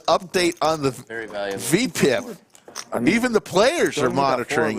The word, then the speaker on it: VPIP: that's what it's pronounced. VPIP.